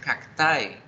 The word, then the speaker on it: cacti: Cactus es singular, pero el plural se escribe cacti y se pronuncia cactae.